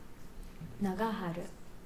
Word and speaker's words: Nagaharu: Pronounced "Nagaharu" in Japanese, "Jang-Chi" in Korean. Nagaharu.